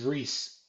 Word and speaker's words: Rhys: It's Rhyse. I know how it's spelled. I'm just saying, I thought it was more like Reese.